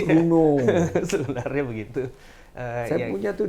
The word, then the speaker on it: Renault: Renault bacanya. Bacanya Renault tapi Runo.